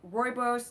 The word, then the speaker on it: rooibos: this candida thing, which is great taste or rooibos. That's pronunciation cuz I went to South Africa and that's where the tea is from.